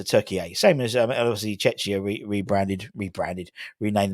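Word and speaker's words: Türkiye: Turkey. That's how you pronounce it. Not called Turkey anymore. Turkey to differentiate themselves from the bird and the English expression of what a turkey is, apparently. So Turkey A.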